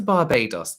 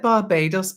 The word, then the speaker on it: Barbados: lnw environmental come to Barbados is it Barbados or Barbados like the Americans say they don't say Barbados Barbados oh that's gonna say